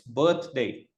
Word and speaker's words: birthday: Okay, it's birthday. Okay. birth, th is the sound. Okay, and Right. not Okay. birthday. It's not birday. It's birthday, right?